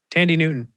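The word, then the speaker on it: Thandie Newton: Tandy Newton. That's how you say it. Okay. Yeah, Tandy. Not how it sounds when you. No, it's definitely not phonetic.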